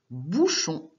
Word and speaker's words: bouchon: On dit un bouchon. Alors du coup, là on ne mettait pas de E à la fin. Si on rajoute un E, ça se serait lu bouchonne.